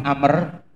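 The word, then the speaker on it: عمرو: Kemudian Rasulullah Sallallahu Alaihi Wasallam riwayat dari Abdullah bin Amr Jadi ini ada tulisan kalau ada wawunya ya bacanya Amr. Kalau ndak ada wawunya bacanya Umar. Itu ya.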